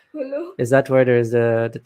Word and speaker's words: Jolo: Yolo? How do you say that? Hulu. Holo? Hulu.